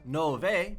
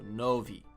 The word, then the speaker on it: nove: Not nove, because when an E is at the end of a word in Portuguese, it's like a E sound. So, nove.